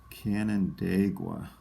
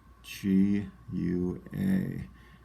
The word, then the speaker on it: Canandaigua: And this one, I believe, is pronounced Canandaigua, which is kind of a tough spelling. Let's go through it real slowly. Canandagua.